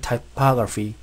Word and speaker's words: typography: About what makes great typography great. 자, about what makes great typography great. 자, 여기 ph 사운드는 발음은 f 발음을 해줘야 됩니다. typography.